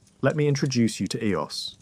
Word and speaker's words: Eos: Let me introduce you to Eos. Her name is pronounced E-O-S-S, soft and gentle, like a sigh.